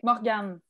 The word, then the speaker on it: Morgane: Okay, Morgane. Morgane. Mm-hmm. Yes, Beautiful. good job. Thank you. I know our French pronunciations need a lot of work.